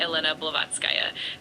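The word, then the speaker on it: Елена Блаватская: Her name is Helena Bllovatzki and in Russian it's usually pronounced something like Elena Bllovatzkaya.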